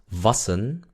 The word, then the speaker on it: wassen: Se dan cuenta que se pronuncia was con la A. ¿Por qué? Porque hay doble S. Quiere decir que si yo lo separo en dos sílabas, was y sen, la A sigue quedando corta. Queda en el medio de la W y de la S. Entonces la A siempre es corta.